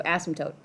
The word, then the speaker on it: asymptote: okay repeat after me ass M tote like a tote you're carrying right so asymptote it's the M that gets everybody okay let's try again uh 120.